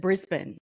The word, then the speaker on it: Brisbane: that where we are yes uh here we pronounce it Brisbane so you got to imagine it's BR I